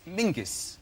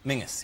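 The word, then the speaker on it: Menzies: His name is Mingus. Mingus. Yes. Goss. Yeah. Mus. Yeah, but it's pronounced it's it's spelled M E N Z I E S.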